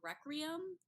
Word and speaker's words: Requiem: he his sword's name is called requiem like wreck room remember this this is